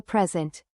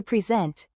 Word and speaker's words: present: Think about the word present. As a noun, a present, the stress is on the first syllable, present. But as a verb, to present, the stress shifts to the second syllable, present.